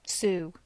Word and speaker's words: Sioux: How do you pronounce that? Sioux.